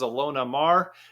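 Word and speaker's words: Ilona Maher: One of the people I like to follow on Instagram is Alona Mar. She's a female U.S. Rugby player. Women's U.S. rugby player. Alona Mar is spelled Ilona, and then her last name is Maher.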